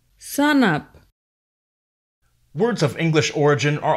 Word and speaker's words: sanap: For example, brother is pronounced brata, enough, enap, before, bipo, shark, sak, stand or stand up, sanap.